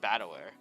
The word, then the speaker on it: Battler: far the problem is my given name is made up of characters for fighting person and it's pronounced battler put it together and